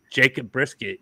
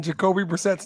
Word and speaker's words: Jacoby Brissett: Well, you make Jacob Brissett your quarterback and, you know, you keep losing. So make Jacob Brissett be your 2 year starter. Are you purposely mispronouncing Jacoby Brissett's name for some reason?